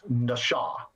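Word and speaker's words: נָשָׁא: It's pronounced very different. The first consonant is the same as NASA, but the second consonant is very different. It's an SH sound rather than S sound, and the vowels are pronounced a bit different.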